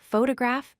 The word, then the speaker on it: photograph: The first syllable gets the emphasis. For example, photograph, phtograph.